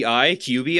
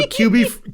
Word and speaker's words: Kyubi: expected look up kyubi QB I think is how it's pronounced I don't know for sure k-y-u-b-i so this when you